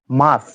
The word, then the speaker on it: মার্চ: মার্চ, দেখুন এখানে আর এর পরে কনসোনেন্ট আছে, কনসোনেন্ট থাকার কারণে আরটা উচ্চারিত হচ্ছে না, উচ্চারণ হচ্ছে মার্চ, মার্চ, মার্চ।